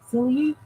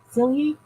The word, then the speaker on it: Celia: So, I know it's pronounced with a Y. Celia. Celia.